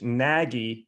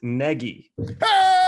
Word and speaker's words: Nagy: It should be pronounced very different than how it's spelled.